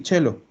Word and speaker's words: cielo: ahí lo mismo pasa con la palabra cello qué es significa cielo igual que en español pero se pronuncie si chelo en teoría en teoría